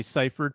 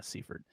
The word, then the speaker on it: Seaford: yeah oh God sorry usually usually when it's E before I you would pronounce the I so I get why you would look at that and say ciphered but um yeah Seaford 31 so the lowest